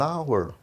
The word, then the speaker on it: hour: Hour, também, ó, coloquei o X lá em cima, indicando que esse H não é pronunciado.